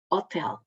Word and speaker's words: hotel: Temos aqui um exemplo de uma palavra acentuada na penúltima sílaba, como telefone, não é? E na última sílaba, hotel.